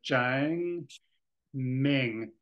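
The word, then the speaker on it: 正名: I think that first ideogram is Cheng, and it would be the Chinese tone that rises and falls. So Cheng Ming.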